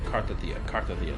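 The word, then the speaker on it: Cartethyia: Cardathea, that's how you pronounce her name.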